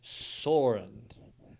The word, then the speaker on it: Soren: It's Soren, like you soar like an eagle.